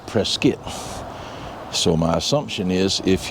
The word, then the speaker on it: Prescott: Today I want to talk to you about uh my visit to Prescuit, Arizona. Now, Prescuit is spelled Prescott, but pronounced Prescuit.